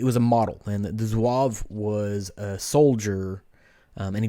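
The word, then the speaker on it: Zouave: have have a drink here it's called the zuav and I looked up how to pronounce that before I got on so it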